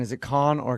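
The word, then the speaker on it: Cannes: But what's Yeah, but the pronunciation is it con or can? It's been driving me nuts my whole life and I've never been there. Yeah, it's can.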